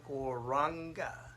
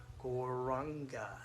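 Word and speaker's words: Gauranga: sound vibration of the mantra Gor Ra Anga. So you can repeat this after me. Gor Ra Anga. Gor Ra Anga. And now we can put those syllables together as one mantra, Goranga. Goranga.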